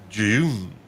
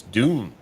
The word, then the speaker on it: Dune: Or is it Jun? Because some people pronounce it like it's a DJ. the June June like that. But it's Dune.